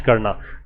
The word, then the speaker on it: coup: सैन्य तख्तापलट का उच्चारण 'कू' की तरह किया जाता है। 'coup' में p की ध्वनि नहीं होनी चाहिए। 'p' अक्षर मौन रहता है।